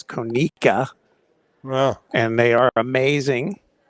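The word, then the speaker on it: Conecuh: Commissioner Bockwinkel says the proper pronunciation is Konica.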